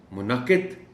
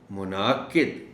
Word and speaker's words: منعقد: کہہ دیا جاتا ہے۔ اب اگر آپ اس کو منعقد کہیں گے تو اس کا مطلب یہ ہوگا کہ آپ نے نون پر زبر ڈال دی اور عین کو بالکل کھا گئے۔ اردو تلفظ میں کوشش یہی کرنی چاہیے کہ ہر حرف کا پتہ چلے کہ یہ بولا جا رہا ہے.